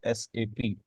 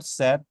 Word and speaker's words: SAP: commonly Pakistan में इसे safe pronounce करते हैं हम but this is not safe this is एस एपी तो आज से हमेशा आपने इसको एस एपी प्रोनाउंस करें अच्छा व्हाट इज एसपी